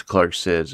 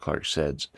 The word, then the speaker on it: ClarkCeds: was Sid the end it was Clark SIDS instead of Clark saids I wasn't sure how